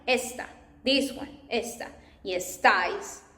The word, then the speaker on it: esta: And está, like this, is, she is, he is, está, because it has this accent, and when you pronounce it, you can see está. But esta, like this one, like here, it means that, like means this one, esta, this one, esta.